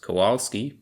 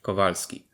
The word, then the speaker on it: Kowalski: out for is that W is pronounced like a V and V is absent from the Polish alphabet altogether so this name which you might recognize is not pronounced Kowalski but kovalski H is another sound